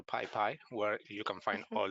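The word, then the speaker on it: PyPI: there's a link to the pi pii I think it's pronounced so Pi piie where you can find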